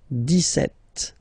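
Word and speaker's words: dix-sept: it's clear but then for the pronunciation deset okay so you don't insist on the deset deset deset okay then so you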